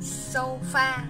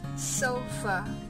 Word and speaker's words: sofa: Từ này các bạn hay đọc thành sofa, không phải là sofa. Thường ở những cái letter A á, khi mà đứng cuối một từ nó hay đọc là âm ơ chứ không phải là âm A.